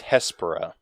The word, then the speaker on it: Hespera: it's Hespera. Hespera. I never would have guessed that, if I'm being honest here. Okay. Well, actually, wait. No, yeah, I would have. Yeah, it's like exactly how it's spelled.